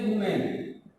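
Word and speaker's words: woman: यहाँ पर शब्द के उच्चारण पर जैसे कह दिया वुमेन, इसको हम बोलते हैं वुमेन और इसको बोलते हैं वीमेन। तो यहाँ सिखाया जाता है, देखो ए और ई, लेकिन उच्चारण कहाँ हो रहा है यहाँ वुमेन वीमेन।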